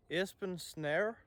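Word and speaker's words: Esben Snare: those two boys were called Espen snare Espen snar that's how we actually pronounce it and then Epsilon who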